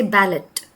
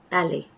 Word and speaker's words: ballet: We don't say receipt because the P again is supposed to be a silent one.